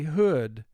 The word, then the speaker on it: hood: He wore a hood on his head. Hood. 3 sounds. H, d. Hood. Here, the word is pronounced hood. If oo were representing its first sound, we would say hood, but it's hood.